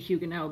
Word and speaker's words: Huguenot: what's a French Huguenot if I'm gonna say it correctly it would be Hyuga no but what's a French